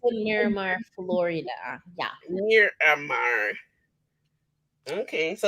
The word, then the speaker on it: Miramar: Miramar. Yeah, talk about wait I keep Miramar. Yeah, Miramar. What you talk? Miramar.